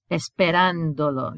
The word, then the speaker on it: esperándolo: You can attach it to the ando or yendo, but notice esperándolo. You put the accent on the A to keep the same sound in esperando.